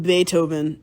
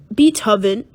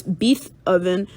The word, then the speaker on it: Beethoven: it is spelled B E E T H O V E N uuuh beethoven and so some people will look at that, and they will read it as bee toven and i look at